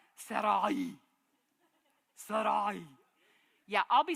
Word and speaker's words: Sarai: which I cannot do it's supposed to be like Sarai yeah I'll be saying